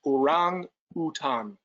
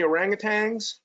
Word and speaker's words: orangutan: rang is man time is four so it's pronounced around Bhutan no G at the act so you know